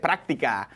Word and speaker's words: práctica: Práctica. Hey, is there an accent on the A? Práctica, I think so. Is that correct? Yes, práctica.